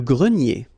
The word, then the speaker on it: grenier: Remember this R here at the end will give you the sound E, nier, grenier.